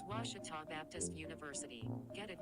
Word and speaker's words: Ouachita: for washida baptist university back in texas everybody pronounces it wichita but really it's ouachita washington washington how would you pronounce it it's washita baptist university get it right it's watertall people it's wachata washita here in the bottom of the fifth tigers